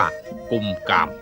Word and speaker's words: กุมกาม: ปี มา แล้ว ข้อ สันนิษฐาน ว่า ชื่อ เวียง กุม กาม มา จาก คำ ว่า คุม คาม หรือ การ ปก ป้อง บ้าน เมือง แต่ ออก เสียง ตาม สำเนียง ร้าน หนา ว่า กุม กาม แต่ บ้าง ก็ ว่า